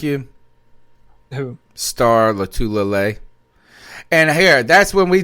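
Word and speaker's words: Lotulelei: Star Latulele. Lodolele. I can't stand it when sports announcers do that. Lodolele. It is.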